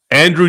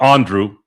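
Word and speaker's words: Andruw: And Andrew Andrew Andrew Jones, by the way, it's not Andrew. He actually cleared this out on the radio. It's Andrew. It's just because it's spelled that way. People think it's it's Andrew.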